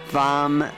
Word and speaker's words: vam: on your second chakra vam with a V that's the one syllable Sanskrit Mantra ooh ooh B